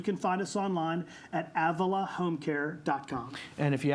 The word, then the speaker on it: Avila: more time Avila Avila yeah we were we pronounce it Avila we don't care what you call us as